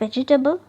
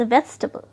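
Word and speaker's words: vegetable: Is that वेजिटेबल? नो, इट्स वेजिटेबल, यस। आप इसे गलत प्रोनाउंस करते हैं क्योंकि आपको सिलेबल की नॉलेज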